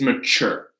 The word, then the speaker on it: mature: That tu is the stressed syllable, but we say that with a ch. So this is the only exception for stressed syllables, is mature, right?